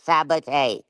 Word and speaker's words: Sabot: pronounce my last name here it's sabot it's not sa ignorant ignant ignant now